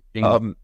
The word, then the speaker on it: Jingle: Is that how you pronounce her name? Yes. Jingle.